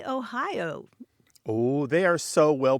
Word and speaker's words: Ai: But, Grant, there's one place that beats all of them, and it's called Ohio, and that's spelled A-I. It has about 600 people there, and it's Ohio.